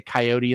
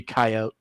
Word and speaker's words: coyote: They say coyote instead of coyote, but it's no, it's meant to be coyote.